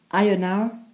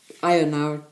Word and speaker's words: Ionawr: Now, Ionawr is January, spelled I-O-N-A-W-R. February in Welsh is spelled C-H-W-E-F-R-O-R.